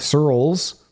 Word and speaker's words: Searles: That's podcast at Searles, which is spelled like pearls, but with an S, .co.